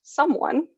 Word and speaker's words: Sumwun: He's invited to become the only Black employee at Someone, which is spelled SUMWUN in typical startup fashion, which is some 36 floors above his former workplace, the Starbucks where he's been working since high school.